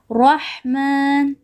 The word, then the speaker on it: رحمن: There is fatha on ra, so we are going to read it heavily. Rahman, like this. And then make sure that you pronounce the ha properly. And there is sukoon on the ha, so we are going to read it together with the previous word.